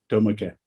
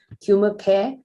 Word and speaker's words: Turmercare: meaning to this name we pronounce this product as tumor care rather than public will probably read it as a thermal care but we say this is a tumor care which is we